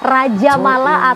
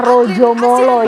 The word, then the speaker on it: Raja Mala: Games 2022 ini adalah Raja Mala, atau dengan ejaan bahasa Jawa kita membacanya adalah Rojo Molo, yang diambil dari cerita wayang.